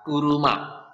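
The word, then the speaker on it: 車: kanji mobil mobil ya untuk Kung yominya ini dibaca kuruma ya kuruma Nah untuk ongyominya ini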